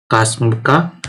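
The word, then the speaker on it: CSMA/CA: So again this is also very famous, that is known as CSMA and CA, that is Kasmka, right? We also pronounce it like that.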